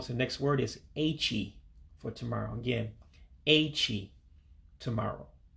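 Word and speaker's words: echi: It's A-Chee. A-Chee for tomorrow. Now again, remember your pronunciation of Igbo. The E makes an A sound and the I makes an E sound.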